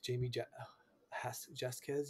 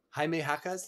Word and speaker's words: Jaime Jaquez: I always like Jamie Jasquez, like Jaime Jaime Jasquez, Jaquez, yeah, Jaquez, Jaime Jaquez. That's a cool name. just pretend that the J's are H's.